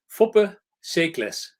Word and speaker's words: Foppe Seekles: This is Natalia, PH, and my fantastic guest, Foppe Seekles. Do I pronounce it correctly? Foppe Seekles.